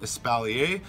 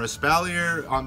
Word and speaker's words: espalier: We're going to be talking about with pruning the concept of espalier or espalier, depending on how you want to pronounce it.